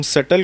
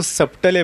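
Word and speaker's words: subtle: غلط تلفظ سے پڑھو, تم سٹل کو سبٹلے پڑھو, ٹھیک ہے, کچھ نہیں ہوتا, آپ نے اپنا مفہوم ادا کرنا ہے.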